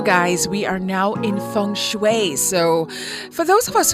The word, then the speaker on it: Feng Shui: So in short, Feng Shui, Feng Shui, pronounced Feng Shui, is the ancient art of Chinese placement.